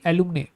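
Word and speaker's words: alumnae: The word is gonna be एलुमने, ठीक है, एलुमनी। अब ये जो वर्ड है इसकी स्पेलिंग नोटिस करना, ये फीमेल्स के लिए यूज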